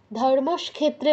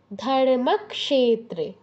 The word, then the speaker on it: ধর্মক্ষেত্রে: কি বলেছিলাম পড়ানোর সময় ধর্মস ক্ষেত্রে বলা যাবে না আগে ক তার তারপর স ধর্মক্ষেত্রে বলো ধর্মক্ষেত্রে তারপর কুরুক্ষেত্রে কুরুক্ষেত্রে